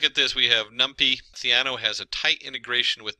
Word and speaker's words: Theano: in there and looked it up it is theano there's a lot of pronunciations theno and different things uh so theano uh it's